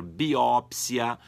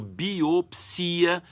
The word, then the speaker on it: biópsia: Tanto pode ser biópsia, quanto biopsia, quanto ainda biópse. Então, essas 3 palavras têm 3 maneiras diferentes de serem pronunciadas.